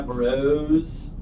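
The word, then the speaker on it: Broz: So is it the one that's spelled like Bros? Yeah, with a Z. Yeah, Bros.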